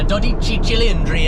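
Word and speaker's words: 12Cilindri: So, we spent a decent amount of time behind the wheel of the 12 cylindry now or the dodic chillandry as Shmei would say and the proper Italian pronunciation.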